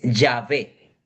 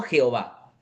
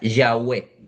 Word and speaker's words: Yahvé: proviene del latín es Yahvé, no Jehová. Porque si nosotros vamos al texto original, el texto original es Yhw, que se pronuncia Yahwe, colocándole las dos vocales, más o menos es Yahweé o Yahvé.